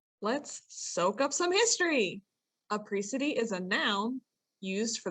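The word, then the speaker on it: apricity: for the people listening i believe it is a pre-city that is how i was gonna say what it looks like so it's spelled a-p-r-i-c-i-t-y a pre-city okay i'm assuming even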